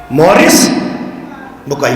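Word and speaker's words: Maurice Bucaille: नाम याद रखिएगा मॉरिस बुकाई फ्रांसीसी नेम है। थोड़ा सा प्रोनाउंसिएशन में गड़बड़ होती है। मॉरिस बुकाई।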